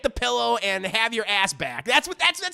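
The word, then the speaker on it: Asbæk: know five minutes later it's pronounced assback his name is pillow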